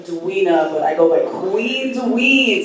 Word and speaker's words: queenDuin: As DJ Lo said, my name is Duina, but I go by queenDuin. So queen rhymes with, y'all, okay?